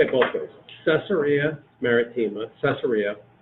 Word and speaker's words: Caesarea: say it both ways Caesarea maritima Caesarea the proper pronunciation is case area concerned with a hard